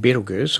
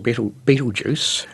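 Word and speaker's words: Betelgeuse: of them like the aforementioned beetleggers or Beetlejuice to use the American pronunciation a bit reduced as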